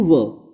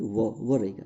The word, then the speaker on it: were: तो उच्चारण इसका यू वो यानी वो रहेगा, ध्यान रखिएगा। ये वर नहीं है, गलत सुनते हैं, बुरा लगता है, लेकिन सही बोलना चाहिए।